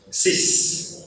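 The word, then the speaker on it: six: Então vamos começar pelos dois que tem a mesma pronúncia, que é o dis e o cis. Então vocês estão ouvindo a letra S pronunciada dis, cis, né?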